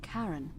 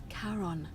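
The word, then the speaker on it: Charon: is a little off the name you heard wasn't Karen it was c h a r o n as in karon the Fairman of the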